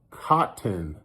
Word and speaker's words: cotton: But like the word cotton, Cotton, they say, people in California, we say cotton, and we don't pronounce the T's. That's how I say cotton, like cotton, not cotton. But what's funny is my wife, Miss Generous, she pronounces the T's.